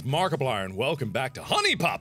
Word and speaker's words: HuniePop: and welcome back to honey pop apparently cuz huniepop is how idiots pronounce it well that's me so I'm gonna pronounce it huniepop from now on so I got I